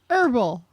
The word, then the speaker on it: herbal: Herbal. Herbal. Rhymes with gerbil.